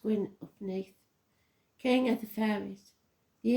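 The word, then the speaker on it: Gwyn ap Nudd: the hunt or even GW UPN pronounced gwin upne King of the fairies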